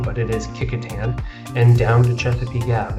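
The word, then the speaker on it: Kecoughtan: a couple blocks north so looks like it's pronounced cofton but it is Katan and down to chesap gab and that and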